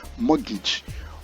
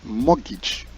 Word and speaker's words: mortgage: important to note that the letter T in this word is silent so we pronounce morgage all pronounce morgage morage morgage mortgage is